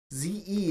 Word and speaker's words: ze: them in their identities ze is typically pronounced like the letter z h ir is